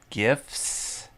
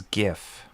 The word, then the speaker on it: GIF: My name's gif. Graphic has a hard G sound. G- graphic.